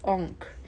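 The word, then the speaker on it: encre: Okay, this is blue oon which is e uh is spelled e n c r e. Blue enk which means blue ink.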